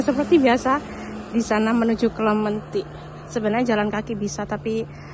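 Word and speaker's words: Clementi: mau kelementi ke kelementi tulisannya tuh celemti bacanya kelementi ini tahu enggak depan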